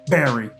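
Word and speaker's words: Barre: And I now appreciate the fact that B A R E is pronounced Barry.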